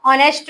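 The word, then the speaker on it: honest: N umbrella आ last देखो ही is desks ऑनेस्ट मैन तुम्हें के होनेस्ट करनेस्ट बोली पर्सन हवर बोली परस एच का हम साइलेंटसी लुप्त हिसाबसी आवर ऑनेस्ट को पढ़ ठीक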